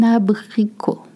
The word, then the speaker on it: abricot: L'abricot, please do not pronounce the T at the end in French. It's abricot, un abricot.